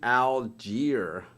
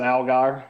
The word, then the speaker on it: Allgaier: How about Justin Algier? Algier? How do you say it? Algier? Justin Allgaier.